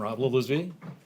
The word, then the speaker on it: Rob Lillisby: And then from District 15, Rob Lillisby. Hello, I'm Rob Lillisby. Nice job on the pronunciation.